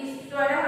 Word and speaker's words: ईश्वरः: ईश्वर नहीं लिखेंगे, क्या लिखेंगे, इसमें विसर्ग डालेंगे और ह की तरह उच्चारण करेंगे, ईश्वरः, महा प्लस ईश्वरः, महेश्वरः।